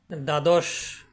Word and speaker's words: দ্বাদশ: শুদ্ধভাবে উচ্চারণ করতে পারবো প্রথম শব্দে দ এ ব ফালা ছিল প্রথমে থাকার কারণে সেখানে ব ফালার কোন প্রভাব ছিল না সেখানে দ্বাদশ উচ্চারিত হয়েছে দ্বিতীয় বর্ণটি এখানে দ